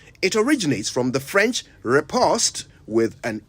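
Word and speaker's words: riposte: vocabulary repost r-i-p-o-s-t-e repost now it's worth mentioning that the English say repost but the Americans say repost and as I always remind you the national language of Ghana is English not American so we're going with repost a repost is a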